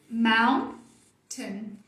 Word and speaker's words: mountain: Não é U, é O. So, mountain. Schwa de novo. A forte é essa, o tracinho tá aqui mostrando. Mountain.